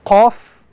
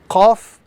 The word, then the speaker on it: Qaf: This letter is the letter Qaf. Again, this letter must be pronounced with some emphasis. Qaf in the capital formation.